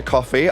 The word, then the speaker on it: Kofi: I'm your host, Tia Coffee, otherwise known as the Glamorous Geek. Tia Coffee. Okay, so she pronounces it coffee.